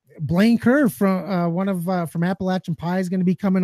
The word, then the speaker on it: Appalachia: a joke about that you say it wrong they'll throw an apple at ya so I remember that